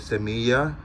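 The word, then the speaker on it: semilla: litter I call it semiya Samia is spelled ese I mean s e m i double l a in Spanish the Double L makes like a yeah sound like yellow or yikes or um what else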